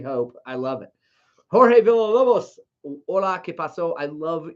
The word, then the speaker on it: Villalobos: Jorge Villalobos. Hola, ¿qué pasó? I love your last name, by the way. Jorge, that is, and I should pronounce it correctly. Villalobos.